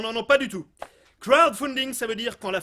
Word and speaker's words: crowdfunding: nos envies par le crowdfunding? Alors effectivement, crowdfunding, si je le prononce comme vous, ça veut dire financement par des corbeaux. Crowdfunding with a D, crowd. Repeat after me, crowdfunding.